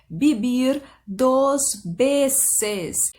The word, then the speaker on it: Vivir dos Veces: Já começo com uma dica de pronúncia, pensa que é tudo B no lugar do V, tá? Então você vai pronunciar Vivir dos Veces.